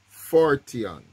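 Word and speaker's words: φορτίον: James version as burden is the word fortune forteon 40 and it's spelled p-h-o-r-t-i-o-n and it's it's it's a burden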